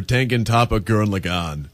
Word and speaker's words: Tengen Toppa Gurren Lagann: TTGL stands for Tengen Toppa Gurren Lagann. Thank you for pronouncing it properly.